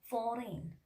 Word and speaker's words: foreign: In case of letter G, you know, when letter G appears just before the letter N, in that case we are not pronouncing letter G.